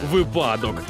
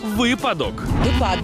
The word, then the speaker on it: випадок: було так просто Ох багато хто каже випадок а от словник української мови переконує що випадок випадок випадок яйця вчила на ЗНО в українській мові правильно випадок От бачите Як екзамени мотивують нашу молодь вчитися тож зафіксуйте собі у слові випадок наголошуємо на перший склад випадок А якщо до слова